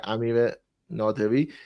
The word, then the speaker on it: Amir Naderi: of course Japan France yeah the runner uh Amir naderi is that how you pronounce that yeah Amir nerei uh it's a fantastic movie again incredibly character